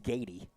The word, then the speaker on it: Goeedy: Pronounced Gady, spelled Goeedy.